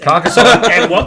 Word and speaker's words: Carcassonne: So how do you pronounce it first? Carcassonne.